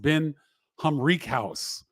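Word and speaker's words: Ben Humrichous: Ben Humrickhouse. I was told that his name is pronounced Ben Humrickhouse from Evansville, commits to Illinois.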